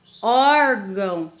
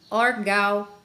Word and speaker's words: órgão: está marcando a pronúncia se eu tirar o tio e da palavra órgão a palavra quando você é vai pronunciar você já não consegue ler órgão e sim orgao né então é muito